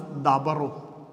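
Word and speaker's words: ܕܒܪܐ: Then dalat will take a vowel. Then it is pronounced as dabaro.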